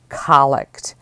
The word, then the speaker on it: collect: this word is the noun and it is pronounced colic and as a noun the word means a